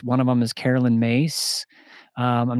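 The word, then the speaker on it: Myss: talk about archetypes one of them is Carolyn mace I'm not sure if you're familiar with Carolyn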